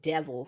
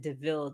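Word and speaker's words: De Vil: yeah, and at the time it was they called it Devil, so it was like Cruella Devil, but she was like, "Huh." And then he was like, "No, it's you pronounced it Deville though."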